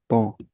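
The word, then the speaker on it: temps: तौ, टेम्प नहीं, तौ।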